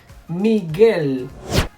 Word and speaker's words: Miguel: G-U más E-I. Same sound, ge, gi. Por ejemplo, Miguel, guitarra.